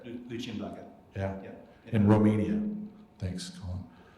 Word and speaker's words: Lucian Blaga: and will be teaching English at the Universitatea Lucian Blaga in Rome. Can you respond to that? No, just say it properly. It's Lucian Blaga.